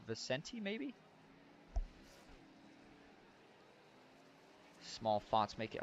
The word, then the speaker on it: Vicente: it's Vincent Guerrero you know I do apologize I keep saying Vincent I believe it is pronounced Vicente Maybe small fonts make